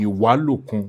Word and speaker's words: Ìwálòkun: Ìwálòkun gangan ni pronunciation.